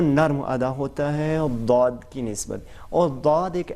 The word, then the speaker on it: ضاد: حرف استعمال ہوتا ہے، لیکن تلفظ جو اس کا ہے وہ صرف عربی زبان میں فقط عربی زبان میں ہے۔ کسی دوسری زبان میں